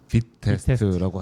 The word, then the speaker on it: Vitest: 비트도 그렇고 비트 테스트도 그렇고. 예. 비트 테스트는 뭐예요? VI 테스트 이렇게 쓰는데 발음은 빛 빛 테스트라고 하시더라고.